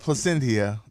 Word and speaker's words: Plasencia: So this Plasencia, I guess I pronounced it correctly.